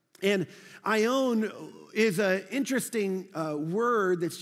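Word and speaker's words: αἰών: and it's this great word right here it's pronounced i own and i own is a interesting word that's used for time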